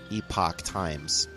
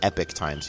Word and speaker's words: Epoch: it operates the newspaper epoch times not epic times people always say it wrong epoch times is probably